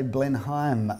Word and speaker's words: Blenheim: honors for this wonderful some say Blenheim and some say blend home but I think Blenheim was right the correct pronunciation yeah that's how you say a walking distance to